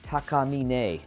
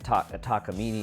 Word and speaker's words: Takamine: Actually, it should be Takamine if you speak Japanese. But everyone pronounces it Takamine in America.